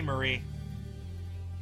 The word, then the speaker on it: Marie: Uh, I'm on T Marie. I pronounced her name Mari because Calamari, you know.